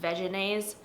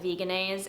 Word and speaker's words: Vegenaise: giving this to veganase i believe it's technically pronounced vegenese but i've always called it vegenaise and i'm just gonna stick with that i think that's a